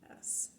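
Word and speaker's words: ætt: So instead of the A sound, it's the E sound. So Aetts is spelled Aetts. So in Scandinavian, my Danish heritage, it would be Etts.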